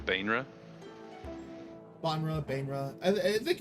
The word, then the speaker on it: Baenre: That looks like Banra, Bainra. Banra, Bainra. I I think it's just like the accent of it. It's Baenre, Banra, Bainra. People say various things.